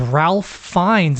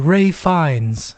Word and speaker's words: Ralph Fiennes: what is it again it came up as Ralph finds and I was like that's not his name and then I Googled the pronunciation and it was like Ray fines and I was like